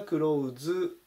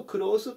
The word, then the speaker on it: close: と化したしこの場合はですね crow 数っていう風になります発音に注意です投資の時はクローズですけど形容詞の時は黒臼でこのクロースと